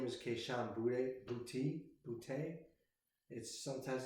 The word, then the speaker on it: Boutte: His last name is pronounced Boutte.